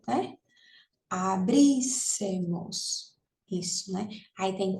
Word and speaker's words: abríssemos: Abríssemos. Isso, né? Aí tem 4, aí última, penúltima, antepenúltima. Essa daqui que é a sílaba tônica, então é isso mesmo.